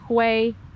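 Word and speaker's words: Huế: bridge that the inhabitants of Hue or Hue, this is apparently the way that you pronounce the name of the city, use every day to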